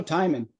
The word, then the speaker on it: Timon: Timon, like rhymes with Simon. Oh, Timon.